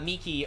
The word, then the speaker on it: Miki: of history behind it miki is pronounced uh miki or even like mickey but micah's micah but